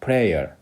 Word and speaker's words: prayer: 프레이어에서 A하고 Y 부분을 어 두음절로 발음하지 말고 한음절로 발음해야 됩니다. prayer would you join with us in prayer for Ukraine 우크레인을 위한 기도에 같이 할래?